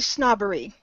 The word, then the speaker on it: snobbery: It's actually snobbery with a short O sound, excuse me. You were saying it with a long O, but it's fine.